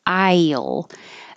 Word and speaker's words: I'll: context people will know the same thing happens with Isle as a contraction you can be very careful and have I yield your tongue will go very high and then slide down and make an L I'll and that sounds exactly like the aisle seed in the airplane would you like the aisle or the window I'll but you don't have